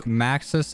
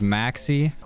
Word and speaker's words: Maxis: last episode i mis i mispronounced maxis as maxie i couldn't remember the